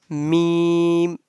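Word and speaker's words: ميم: and next one is meme meme and the sound of meme pronounced from the dry part of both lips okay now repeat after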